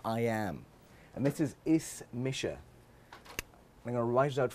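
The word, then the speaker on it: Is mise: name is or I am and this is is Misha I'm gonna write it out phonetically for you it's spelled like this but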